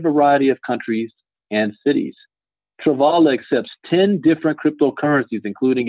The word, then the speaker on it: Travala: Travala, I wasn't saying it right, Travalata.